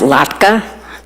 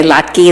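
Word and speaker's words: latke: Uh, the Eastern European classic is the potato lattka and again that word is pronounced lattka. I hear some people say lki.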